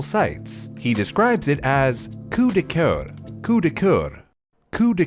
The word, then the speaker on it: coup de cœur: He describes it as coup de coeur, coup de coeur, coup de coeur. We'll come back to that. I'm gonna figure out the pronunciation. Coup de cœur.